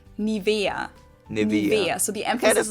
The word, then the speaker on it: Nivea: of products nowadays again i find the english pronunciation pretty funny here english native speakers usually say nivea nivea in german we say nivea nibiru so the emphasis is about to be